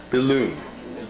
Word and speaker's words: Bilun: last name, or last name, not How do you spell that? B-I-L-U-N. Billoon.